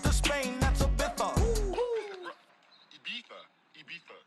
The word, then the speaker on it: Ibiza: Ibiza. Yeah, it's pronounced Ibiza, actually. Yeah.